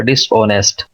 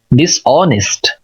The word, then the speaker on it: dishonest: अभी DISHONEST, हम इसको पढ़ते हैं आमतौर पर डिसऑनेस्ट। इसका एक्चुअल प्रोनाउंसिएशन क्या है? DIS, डिस, ओ, न, ई, सा, था, ऑनेस्ट, ऑनेस्ट, डिसऑनेस्ट, डिसऑनेस्ट, ऑनेस्ट नहीं बोलेंगे, डिसऑनेस्ट, ऑनेस्ट ज़ाहिर ही अजीब लग रहा है लेकिन यही दुरुस्त है, डिसऑनेस्ट।